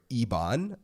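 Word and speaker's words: IBAN: international business account number which is your Ebon that's the thing that's the way you pronounce it and then you link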